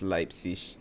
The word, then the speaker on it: Leipzig: By the way, it is pronounced Leipzig, for all of you out there who don't know German.